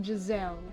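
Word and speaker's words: Jezaille: I know it's pronounced Jazelle, but Jezebel is a cuter name.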